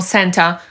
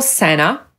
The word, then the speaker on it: Santa: No i czemu niektórzy nie mówią Santa, tylko Sena?